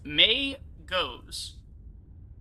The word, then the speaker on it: Magos: this up pronounce yeah oh it is it's May ghosts or makeup okay pronounced May goes plural Magi oh wait